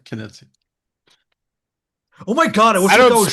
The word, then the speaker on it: Knizia: Nitzia. Oh I man. bet he doesn't even have a The doctorate. The K is pronounced, by the way. Knizia.